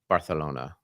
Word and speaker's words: Barcelona: September, I will be at Label Expo Europe in Barcelona.